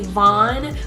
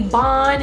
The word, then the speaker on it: Von: to say my name so it's kind of better for somebody to say vaughn but sometimes that name even gets butchered because some people would call me bon and and but i'm